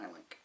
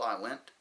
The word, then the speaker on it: i-link: of the eye link it's called an i-link it's spelled eye lint but it's i-link so both axles both locomotives